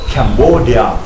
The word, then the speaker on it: Cambodia: ว่า Cambodia นะ ครับ ออก เสียง อีก ครั้ง ครับ Cambodia 3 พยางค์ ครับ ลูก Cambodia สะกด แบบ นี้ ครับ c a m b o d i a capbodia นะ ครับ ไม่ ใช่ คอมโบเดีย นะ ฮะ Cambodia ชื่อ ใน